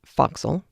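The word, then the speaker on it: forecastle: down into the foxhole which is spelled for castle f o r e c a s t l e but it's pronounced foxel and a loft there to the royal mast head.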